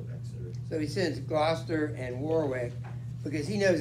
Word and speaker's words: Gloucester: My lord of Warwick and my brother Glaucus. Wait, how do you say that again? Gloucester, 2 syllables.